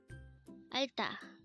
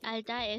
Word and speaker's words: 알다: ALDA. ALDA. The Korean word ALDA is a verb which means to know or to understand.